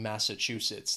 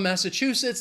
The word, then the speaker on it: Massachusetts: is pretty amazing in Massachusetts they also have four syllables and the stress is on that third syllable that chew Massachusetts when I think of